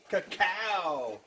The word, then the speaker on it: cacao: Cacao!